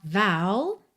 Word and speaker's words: vow: Atenção aí a pronúncia dessa palavra que é v o W, que esse O vai ter esse som mais aberto, tá? Vou and then seal it with a kiss.